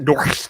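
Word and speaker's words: NOHRSC: Should I just should I pronounce that? Nor That's right. It's a real hard R.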